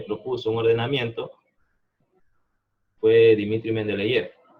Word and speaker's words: Mendeleev: un ordenamiento fue Dmitri Mendeleev. Yo lo digo Mendeleev, a lo mejor me escucho en ruso y se ríe, pero Mendeleev es al menos como yo he escuchado cómo se dice. Entonces Dmitri Mendeleev fue el